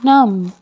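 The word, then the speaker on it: numb: my fingers are going नम my fingers are going नम अब इसके spelling है एन यू एम बी लेकिन आप पढ़ेंगे एन यू एम क्योंकि बी है साइलेंट द नेक्स्ट सेंटेंस ठंड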